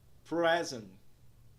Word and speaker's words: present: Na primeira palavra, present, nós temos aí na primeira sílaba o som de vogal E curva, que soa como E. Primeira sílaba é então pronunciado como pres, pres, pres. Na segunda sílaba, nós vemos aí o som é invertido, que soa como A. A sílaba é então pronunciada como ant, ant, ant.